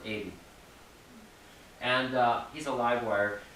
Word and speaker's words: Eden: It's spelled Eden. So if you're thinking of praying, you can think Eden, but it's pronounced Aiden.